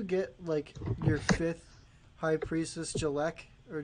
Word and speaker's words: Jeklik: Once you get, your 5th High Priestess Jalek, or Jalik, however you pronounce it. Jeklik, there you go.